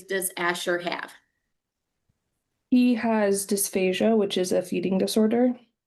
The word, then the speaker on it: dysphagia: Let's talk about the dysphagia.